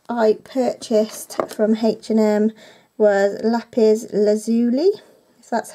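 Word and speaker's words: lapis lazuli: one next step I purchased from H&M where lapiz lazuli that's how you say it basically I've just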